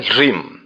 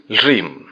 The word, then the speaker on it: ह्रीम: करना होगा वो है ह्रीम। अगर आप इसको सरल ऐसे समझ लें, ह, ल, र, ई और म, इतने वर्णों का संयुक्त रूप से आपको उच्चारण करना है, यानी कि ह्रीम।